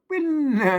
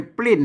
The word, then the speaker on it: ปิ้น: มา หน่อย ตา เลือก ปิ้น ตา เลือก ปิ้น ไม่ ใช่ ปลิ้น นะ ครับ อ่า ต้อง อ่าน บ่ ปิ้น เสียง โท พิเศษ โท เมือง นะ ครับ เห็น มั้ย ต้อง อ่าน ว่า เลือก ปิ้น น่ะ ปิ้น น่ะ ก็